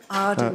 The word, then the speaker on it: Arden: Arden as in Jinta.